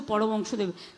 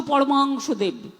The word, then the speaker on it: পরমহংসদেব: আমরা ঠাকুর রামকৃষ্ণকে বলি মুখ দিয়ে কখনো কখনো একটা দুটো উচ্চারণ করতে গিয়ে স্পিডে বক্তৃতা দিয়ে বেরিয়ে গেলে আমি সেটাকে সংশোধন করে নিই আগেরটা আমি উইথড্র করে বলছি রামকৃষ্ণ পরমহংসদেব ঠাকুর ঠাকুর পঞ্চানন বর্মা ঠাকুর